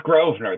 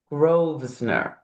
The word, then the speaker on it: Grosvenor: It's Grovener. The S is silent. Grovenner. Yes. Grovener.